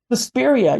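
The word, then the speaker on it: Suspiria: you um sespa am I saying it right susperia yes I actually okay so like you you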